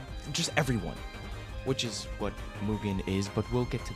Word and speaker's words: MUGEN: Ronald McDonald is going around just fighting God knows who and just everyone, which is what Mugen is, but we'll get to that in a second.